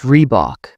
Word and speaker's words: Reebok: People often call Reebok with stress on the Bach. It's Reebok, short and simple.